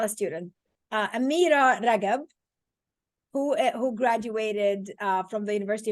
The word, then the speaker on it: Ragab: Her last name is Ragab, which is the Egyptian way of saying the G in the Arabic alphabet. So if I was to pronounce her name, it will be Amira Rajab with a J. But in the beautiful Egyptian dialect, the G is a G.